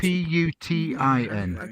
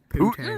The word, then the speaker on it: poutine: Spell it this Cheese way: curds. I P-U-T-I-N. thought I read they were Poutine.